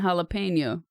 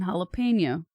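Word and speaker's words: jalapeño: with a straight face there is no pen in jalapeno if you have a hard time pronouncing it it's galapin noose if you have a hard time pronouncing it just practice M I know it does it goes jalapeno but I'm just trying to help you get the sound out of your mouth fluidly okay so just practice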